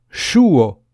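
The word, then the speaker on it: ŝuo: de l'anglais Sun attention il y a aussi un S chapeau la lettre Cho et donc un son qui nous est quand même familier Cho chouo une chaussure pensez à l'anglais chou to tamtamo tamtam bien sûr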